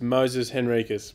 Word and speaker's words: Moises Henriques: Uh, I think I'm pretty sure it's Moses Henriquez, but uh, I've heard of so many variations now that I'm fairly confused as well.